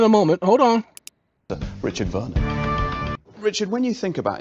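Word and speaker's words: Werner: Richard Dick okay William voner pronounced with a V spelled with a w w e r n e r you'll hear the pronunciation in a moment hold on Richard Veron Richard when you think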